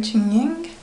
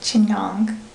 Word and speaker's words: chignon: I'm going to do a bit of a chying that's not pronounced right Chong and to get it